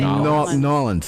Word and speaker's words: New Orleans: You got to say New Orleans. New Orleans. It's two syllables.